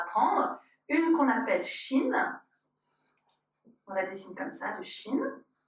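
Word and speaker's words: שין: Donc, c'est un shin qui se prononce ch.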